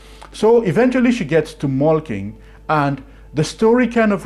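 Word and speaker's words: Molching: It's actually spelled as Malching, but then it's pronounced Malking as far as I can tell.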